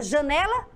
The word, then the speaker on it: janela: Você conseguiu aí identificar aonde está a sílaba tônica da palavra janela? Mais uma vez. Janela. Já dei até a dica, olha lá. Aqui, ó, no né, na sílaba né.